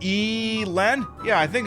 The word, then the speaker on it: Elon: same page about that it's pronounced Ellen and not e Len yeah I think it's